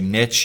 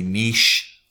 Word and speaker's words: niche: You can say niche, you can say niche.